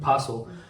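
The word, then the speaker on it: Parcl: p a p a r c how it's pronounced like pel basically pel allow trading of derivatives derivatives are basically these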